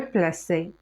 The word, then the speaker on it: plaçais: nager il est nager le verbe placer on a déjà vu que le C avec a se prononce k alors pour ne pas prononcer que on a ajouté l'acide je plaçais tu plaçaies il plaçait alors